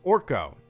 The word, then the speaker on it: Orko: Just pronounce it as Orko. Okay, like the wizard from He-Man.